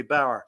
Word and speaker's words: Bower: or should it be Bower Bower Bower it's not like the German farmer it's b o it's not b a r is bow or b w e r is B is Bow and c and my name